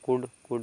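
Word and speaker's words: could: silent हो जाएगा तो एल साइलेंट हो जाएगा कुड कुड मींस होता है सक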